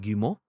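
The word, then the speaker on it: Guillemot: vr beyond a brief tease from ceo eve gumo uh or which was quote on splinter cell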